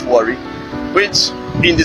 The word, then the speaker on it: Warri: In their own tongue, they pronounce it Wari, which in the spelling you still see it's very clear, kind of.